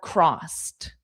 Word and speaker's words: crossed: My fingers are crossed. So that's the expression, fingers crossed. So notice I should have added it, but I did not. Crossed is, the pronunciation is with a T. Crossed.